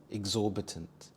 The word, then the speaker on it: exorbitant: for every occasion exorbitant exorbitant the stress is on the second syllable zor exorbitant this means unreasonably